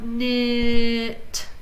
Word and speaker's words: knit: it is nice now remember these are all we're ignoring the first sound the first letter not knit knit wrong silent nah